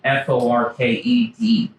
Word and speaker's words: Forked: There's a lake with a big fork by Long Lake, F-O-R-K-E-D. Don't say forked. You'll look like a tourist. Forked.